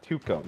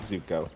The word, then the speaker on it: Tuco: thank you Zuko Zuko Toco Tuco not okay Tuco not Zuko thank you just making